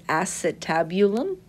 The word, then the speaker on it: acetabulum: socket is the acetabulum it looks like it's spelled Ace but it's acetabulum that's how it's pronounced head of the femur